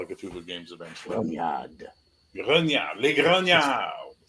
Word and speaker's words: grognard: If you're and not, it's pronounced Grognard. But that's neither here nor there. Grognard. Grognard, Grognard, Grognard. Grognard. Yeah, there you go. Now you got it. Grognard. I'll get you a better French accent for your Call of Cthulhu games eventually.